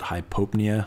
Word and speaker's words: hypopnea: an example of a high pop Nia now some people have actually heard it pronounced at hypopnea which I guess is actually technically right but it just sounds dumb so anyway this is